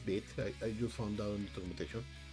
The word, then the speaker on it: Vite: traditional uh bit application it look like actually pronounce bit i just found out intermutation we have a